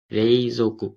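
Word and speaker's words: 冷蔵庫: Refrigerator को रेइजोकु बोला जाता है। सो यहाँ पे ओ और यू है, तो थोड़ा सा इसको थोड़ा सा लॉन्ग प्रोनाउंस करना पड़ेगा, रेइजोकु, रेइजोकु।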